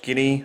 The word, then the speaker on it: Giddey: Basically a lot of the players, obviously Paddy Mills, Josh Giddey, I believe is how the last name's pronounced, the guy that's playing for, played against